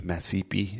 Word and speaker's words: Mashpee: Tribe is Mashpee. Masipi is how we pronounce that.